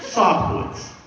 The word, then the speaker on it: Sobkiewicz: say your last name it's a tough one sof Woods she tries to remember on the way home